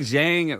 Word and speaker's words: Zhang: Because like Zhang rhymes with bang. And then, these commentators, they switch like every other time they say it. Yeah, we probably do too. Yeah, we definitely do. But if it rhymes, I'm going with the rhyme. So it's Zhang for me, or Zhang.